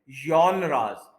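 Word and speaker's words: genre: इसको वाई के साथ बोलते हैं, जॉनराज। ये कोई फ्रेंच वर्ड है तो इंग्लिश की तरह से नहीं इसको पढ़ सकते।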